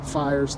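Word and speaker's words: Phiers: Fires, the PH makes the F sound like philosophy, and Big Pharma, who we will undercut.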